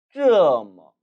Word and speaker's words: 这么: 이 这么라는 단어의 발음은 특히 뒷부분 뭐에 주의하셔야 합니다. 왜냐하면 이것은 언뜻 들었을 때는 마치 뭐처럼 들릴 수도 있기 때문이지요. 하지만 앞서서 발음 부분에서 말씀드렸다시피 중국어에는 어라는 모음은 없습니다. 반드시 뭐 발음이 되어야 하는데 이 뭐는 경성 처리되기 때문에 가볍게 뭐로 읽어야 하는 것이죠. 따라서 들릴 때는 뭐처럼 들릴 수는 있지만 절대 뭐는 아님에 주의하시기 바랍니다. 따라 읽어보시죠.